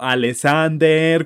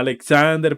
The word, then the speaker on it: Alexander: parece como súper gracioso además que no sabía pronunciar mi nombre porque decía como alexander cuando me llama alexander pero bueno las aprenden a